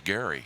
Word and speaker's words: Gerry: it looks like g-e-r-r-y it looks like gerrymandering but the gentleman for whom it is named his last name was gary so you take it